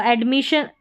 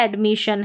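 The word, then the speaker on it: admission: यहां पर है परमिशन अब यहां पर देखिए शन आ रहा है परमिशन डबल एस को भी जैसे हम एक एस को पढ़ते हैं वैसे ही डबल एस का उच्चारण होगा तो यहां पर श करके है तो एडमिशन यहां पर परमिशन है और यह एडमिशन है। यहां पर भी शन पढ़ा है। डबल एस आ रहा है।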